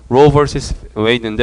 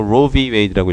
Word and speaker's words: Roe v. Wade: Roe vs. Wade인데 Roe vs. Wade라고 읽고 vs는 versus잖아요. s를 빼고 Roe v. Wade라고 읽기도 합니다.